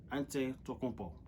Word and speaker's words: Antetokounmpo: All you have to do is just look at the letters, spell it out, and pronounce it. Antetokounmpo.